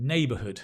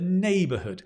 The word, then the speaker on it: neighbourhood: The neighbourhood, not the neighbourhood, the neighbourhood.